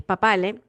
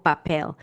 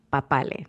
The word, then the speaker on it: Papale: pronunciación eh del apellido en español es papale, pero aquí en inglés le ponen el la pronunciación en inglés o lo pronuncian como creen que es y termina siendo algo así como papel y yo y que